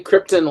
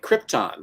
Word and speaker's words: Krypton: So you say Krypton like Marlon Brando. I'm from the planet Krypton. I thought she was the planet Krypton, like Argon and Radon. And yeah. I just say it Krypton.